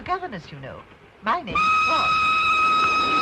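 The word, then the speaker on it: Froy: My name's Roy. You said Roy? No, not even me. Roy. Sorry, I can't hear. It rhymes with joy.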